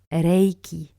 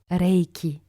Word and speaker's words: Reiki: It's correct to say Reiki or Reiki, but not Reiki or Reiki with an A. So this pronunciation mistake I hear quite often with French speakers. And it touches on the very foundation because the word Reiki itself in Japanese is pronounced Reiki, with an E that is quite long, almost like an accent is on A, Reiki, Reiki.